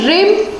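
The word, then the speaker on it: rhyme: रिम and style of the poem. H यहाँ पर silent रहेगा।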